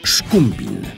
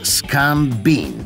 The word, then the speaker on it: Szkumbin: Prawa ręka Dina miał na imię Szkumbin, od pięknej rzeki w samym sercu jego pięknej ojczyzny. Ale w Ameryce niełatwo go było używać. Większość wymawiała je początkowo jak Skambin, czyli zbiornik na szumowiny.